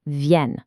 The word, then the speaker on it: viennent: Remember to hit that nasal ya sound for the singular pronouns and that really strong viennent for the plural.